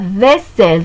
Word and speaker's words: vaisselle: L'eau permet de se laver, de faire la vaisselle. Donc ici, donc le E prononcé en E. Pourquoi? Parce qu'il y a deux consonnes, il y a deux L.